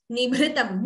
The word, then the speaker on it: निभृतम्: Nichulayati cholena nibhritam. Note the pronunciation of that word. Nibhritam. Bhr is Mahaprana. And we should not chant it as nibhritam. There is no dvitvam there. It is just nibhritam.